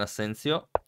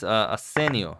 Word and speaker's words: Asensio: Speed Monkey is actually playing faster than Asensio. Or no, it's Asenio. Ah, Asenio. I've been mispronouncing our leader's name for the entire tournament.